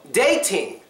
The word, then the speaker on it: dating: silent T next one dating dating last syllable t t i n g but there's an exception remember when it ends in n g the G is basically silent to us Americans so this does follow